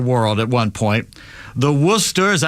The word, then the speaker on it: Worcester: The Worcester, is that how you're pronouncing it right? Worcester, yeah.